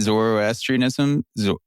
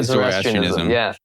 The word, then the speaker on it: Zoroastrianism: How do you pronounce it? Zoroastrianism. That's it. Yeah, Zoroastrianism.